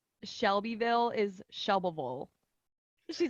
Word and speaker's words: Shelbyville: And then like Shelbyville is Shelbyville. She's like, you got to just be lazy with it. It's just Like Shelbyville.